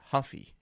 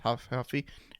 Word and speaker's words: Ruffy: if he was if his name is huffy it's pronounced Huff huffy and he rides a